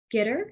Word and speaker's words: Ghitter: Joining me on this episode is my guest, Monty Ghitter. Is that the correct pronunciation? Yep, perfect. Yeah, Ghitter.